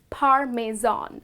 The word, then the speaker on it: parmesan: type of cheese the correct pronunciation of this word is parmesan okay so it's par me zone i would like to